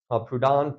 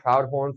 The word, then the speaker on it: Proudhon: I called Proudhon Proudhorn for way too many years.